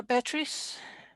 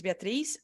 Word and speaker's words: Beatrice: pass on to uh batteries if that's how you pronounce it yes hi can you hear me well yes yes that's perfect the pronunciation was perfect hi nice to meet